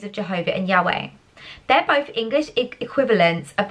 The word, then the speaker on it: Yahweh: the tetragram centuries ago english scholars thought it was a pronounce pronounced jehovah today most agree yahweh more closely represents the covenant names of